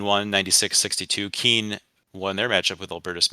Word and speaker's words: Keene: Number 1, in parts of New Jersey, Keene, New Hampshire, and Kane, New Jersey, are pronounced the same.